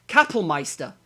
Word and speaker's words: Kapellmeister: Well, Gassman died a bit sooner, but after he basically replaced him as the how do I pronounce that? Because it's German. I fucking hate it. Kapellmeister.